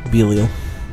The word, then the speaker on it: Belial: Oh, I pronounced it right the first time. Belial.